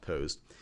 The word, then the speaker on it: POST: for a reason but mostly usually it's pronounced post these are power on